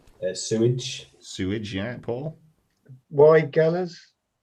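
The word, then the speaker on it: Weigela: six please chris uh sewage sewage yeah paul why galas not quite sure how you pronounce it don't you look at the wrong man stephen yeah apparently it's pronounced why jello like nigel oh is this we had this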